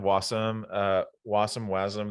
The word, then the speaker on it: wasm: some uh was some wasm the pronunciation people can debate it but maybe technically it would be wasm because it kind of comes from the precursor asm.js which was sort of uh